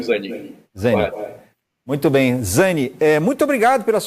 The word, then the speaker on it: Zani: Tá correta a pronúncia? Zani, isso do italiano, Zani.